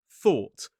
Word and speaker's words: thought: And first up, we have thought. So, we have that or t thought. It's the same or sound that we see in door, law, saw.